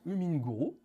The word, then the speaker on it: HumminGuru: de Renault, où là on va parler de Huminguru, Oui, je l'ai bien prononcé, tu l'as bien prononcé, Hummingbird.